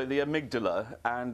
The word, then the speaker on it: amygdala: I suspect you're going to correct me on the pronunciation. Tell me a little bit about it. Well, I call it the amygdala, and it's a small area of the brain,